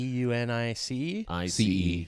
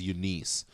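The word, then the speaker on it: Eunice: It's like Denise.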